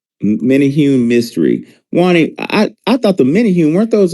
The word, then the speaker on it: Menehune: Hey, no, I just wanted to say, because y'all was pronouncing a word wrong. They called mini hunes, mini hunes. Menehune, thank you. Menehune, thank you.